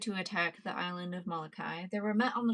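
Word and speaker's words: Molokai: So, it is the name of one of the islands and I just do not know how to um pronounce it. Malachi. Malachi.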